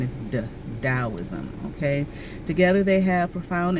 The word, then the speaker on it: Taoism: Okay, you may see Taoism spelled with a T, usually it is, but the pronunciation is Taoism.